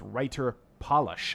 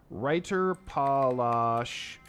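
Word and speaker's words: Reiterpallasch: Oh, there's no S there. So it's Reiter Palash. I've been mispronouncing this the whole time. Reiter Palash.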